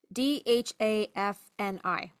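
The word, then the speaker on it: Δάφνη: The Greek word for bay laurel is Daphne, Dhafni.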